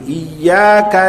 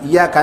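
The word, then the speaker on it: إياك: Ada huruf alif, jangan dihilangkan. Maka 'ya' itu ada shaddahnya, bukan iyaka na'budu iyaka nasta'in. Iyyaka na'budu wa iyyaka nasta'in, 'ain, jangan alif, jangan ta'in ya.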